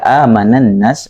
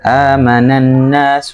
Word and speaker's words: آمن الناس: Ketika amanan nas itu kecepatannya. Amanan nas. Nah, itu coba ditahan sedikit di nun tasydidnya.